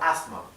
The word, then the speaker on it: asthma: Así que por más que se escribe con S, yo creo, por lo que siempre he escuchado, que la S no se pronuncia.